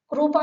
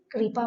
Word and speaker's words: कृपा: लोक में हम प्राय करके इसका उच्चारण रू जैसा करते हैं, जैसे क्रू बोलते हैं। क्रू नहीं बोलना है, क्री बोलना है। शब्द देखेंगे, कृपा। कृपा नहीं बोलेंगे, कृपा बोलेंगे।